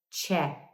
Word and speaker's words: chat: É a palavra chat, mas em inglês essa palavra se pronuncia chat. Pode ser o verbo conversar, papear, chat. A gente tem um ch ali. É o mesmo ch, da palavra tchau.